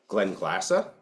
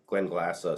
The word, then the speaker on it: Glenglassaugh: So we've got this Glenglassaugh. That's how you pronounce it. Glenglassaugh.